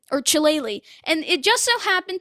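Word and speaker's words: Chillelagh: you spell chile um his last name which is c-h-i-l-l-e-l-a-g-h it's ridiculous but it's a great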